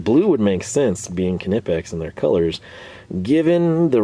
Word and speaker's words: Knipex: the it's pronounced cannipex is going to set